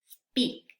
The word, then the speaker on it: speak: Fíjense bien cómo voy a pronunciar estas palabras. Speak. Pueden repetir después de mí. Speak, spider, sponge, speed, sport.